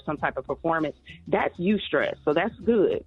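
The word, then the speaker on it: eustress: good healthy positive stress it's actually called you stress so you stress is spelled e-u-s-t-r-e-s-s and this is the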